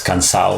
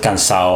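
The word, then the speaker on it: cansaw: But I think it's really interesting that in Chavacano they say it as cansao and not cansado. They pronounce it cansao, I think, like Puerto Ricans or Dominicans or like that's right.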